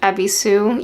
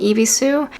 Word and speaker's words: Ebisu: I got this from a store called Ebisu. Eebisu. It is a Japanese goods store and they have a few locations in the United States. I'll spell it out. It's EB I S U.